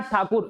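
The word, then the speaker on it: ঠাকুর: नाम सुना होगा रविन्द्रनाथ टैगोर का नाम सुना होगा, वो टैगोर नहीं थे वास्तव वो ठाकुर थे, अंग्रेज उनको टैगोर टैगोर टैगोर टैगोर कह के उनको टैगोर बना दिया, और आज हम लोग टैगोर भी लिखते हैं।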